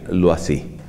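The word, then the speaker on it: Loisy: ese era su apellido como es un nombre francés entonces tenemos que pronunciarlo no así él o y latina ese y lo así lo así es el caso típico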